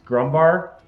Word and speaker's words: Grumbar: spell that name uh it's grumbar which spelled exactly how it sounds g r u m b a r um and then